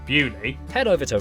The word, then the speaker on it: Beaulieu: Starting in Biaulio, Beaulieu, head over to Rampisham, Ransom, then down to Mousehole.